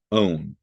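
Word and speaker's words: -one: We use the suffix own. It's spelled one, but it is pronounced own.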